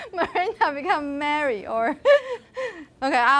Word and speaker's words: Miranda: But, okay, the reason why we pronounce Miranda schwa in the first syllable, M, is because the stress is on the second syllable.